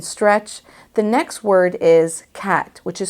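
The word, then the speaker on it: qat: Scrabble word and stretch the next word is cat which is spelled q-a-t these are the leaves of an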